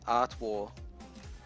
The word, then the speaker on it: Artois: Say Art War. Art War? I don't know, man. Art War.